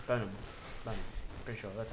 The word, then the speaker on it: Bonham: said botom Bon it's Bon B pretty sure that's how it's pronounced bone you don't pronounce the h like you don't pronounce bone ham because say it like